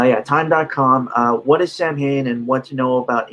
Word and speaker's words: Samhain: initially began as something called samhain which is spelled samhain because um because celtic spelling is weird um it translates to